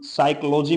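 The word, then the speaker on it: psychology: होता है मनोचिकित्सक साइक मस होता है मानसिक साइकोलॉजी मस होता है मनोविज्ञान साइको थेरेपिस्ट का मतलब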